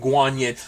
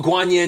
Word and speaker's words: Guanyin: she's a goddess named guanyin I looked into it I was like looking at I was like is that how you pronounce it that is like